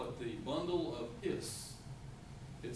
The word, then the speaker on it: His: it the bundle of hiss it spelled his but it's pronounced hiss like the snake on Robin Hood yes you've seen Robin